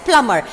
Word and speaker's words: plumber: Make sure that the B letter is silent and you have to pronounce this word as plumber.